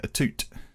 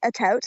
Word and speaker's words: Atout: it as a twos apparently there's some like French background to it some somewhere deep down